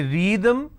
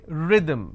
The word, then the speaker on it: rhythm: the vowel sound ro can I say read them no I say rhythm which means short vowel sound II read the th